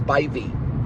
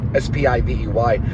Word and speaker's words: Spivey: It's actually pronounced Spivey, S-P-I-V-E-Y. That's why you have an E-Y. It makes the long sound of I.